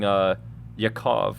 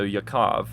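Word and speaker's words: יעקב: Anyways, on the bottom of my screen at least, it's saying Yaakov. That's how you would pronounce Jacob in Hebrew. So Yaakov, and then it says it's a noun, it's a proper noun, it's masculine, and it's singular, right?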